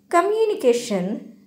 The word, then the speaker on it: communication: Communication have 5 syllables: come, you, ni, ke, shun. Of the 5 syllables in the word, this syllable CA is loudest, strongest and so carries the primary stress, which is shown with